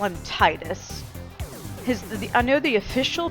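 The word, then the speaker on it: Tidus: default uh and I'm going to call him Titus his I know the official pronunciation of His official name is tetus which sounds incredibly stupid so his original name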